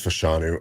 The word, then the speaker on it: Fashanu: ol Sho man or I want to make sure fashanu is how you pronounce it right I believe it's fashanu I I hear some uh people say fashanu but uh more often than not fashanu yeah Olu fashanu